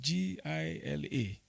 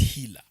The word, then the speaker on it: Gila: G I L A I I found out yesterday. It's healer, not Gila.